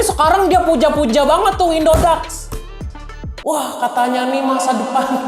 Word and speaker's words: Indodax: Indodax ya, bacanya bukan Indodex. Mentang-mentang A dibacanya E, dibacanya Dex. Enggak, Indodax. Udah ikutin aja Indodax.